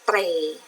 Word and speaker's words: เตร่: ค่ะ ทำ ต่อ ไป นะ คะ คำ ว่า เตร่ สะกด ว่า ตร. เอร์เร มั้ย เอก เตร่ ตร.